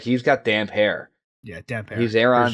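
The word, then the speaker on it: Damphair: Damp hair, baby. Good chapter. Damp hair. Yeah, for sure. I think the first time I read this chapter, I was pronouncing it damn fair.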